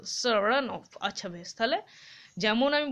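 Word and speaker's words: Saranoff: হি প্রোনাউন্সেস the name with the stress on the second syllable, সারানফ।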